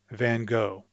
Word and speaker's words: Van Gogh: this painter in French, you might say Van Gogh, because in English, or at least in American English, I say Van Gogh.